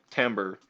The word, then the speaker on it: timbre: goes up or down timbre rhymes with amber distinguishes one instrument from